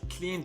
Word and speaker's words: cleaned: I cleaned the whole place by myself yesterday. A reading me helped. Okay. Cleaned. The ed is pronounced as the.